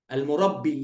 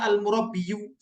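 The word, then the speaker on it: المربي: Al-murabbi. Ya-nya nggak nggak dibaca al-murabbiyu. Jadi orang Arab tuh berat kalau seandainya harus mengucapkan al-murabbiyu. Nah, akhirnya mereka ditinggalkan yang berat-berat. Akhirnya yang bacanya al-murabbi, gitu ya.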